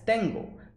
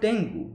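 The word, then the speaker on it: 天狗: well thought that she thought that it is pronounced as tango that's why she wrote tengo underneath that was not the case she knew it was called tengu and still she wrote it as tango that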